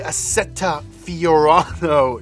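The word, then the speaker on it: Assetto Fiorano: powerful one currently is a ferrari the sf-90 asceta fiorado to be exact yes that's how you say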